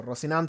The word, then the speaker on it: Rocinante: you I speak Spanish so Rocinante it is so in short Rocinante